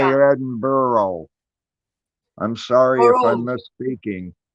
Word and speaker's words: Edinburgh: Edinburgh okay whatever and over here we say Edinburgh I'm sorry if I'm misspeaking no if if a spent Borough but it's pronounced Edinburgh okay I didn't mean to have that sound